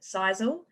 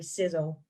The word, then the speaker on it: Sisel: some people pronounce it sisal I guess it could you know it looks like it's pronounced that way but it's actually sizzle so if this company